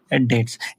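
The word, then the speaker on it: debts: A person who is unable to पे ह डेट्स। ऐसा व्यक्ति जो कि अपनी डेट्स डेट्स मतलब कर्जा। ठीक है? इसमें बी क्या होता है? बी साइलेंट होता है। इसको पढ़ते नहीं है हम।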